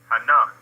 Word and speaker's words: Hinnom: The second word is Hinnom, or Hinnom. Well, that's the transliteration, Khan. But the actual pronunciation would be what? Hanam, right?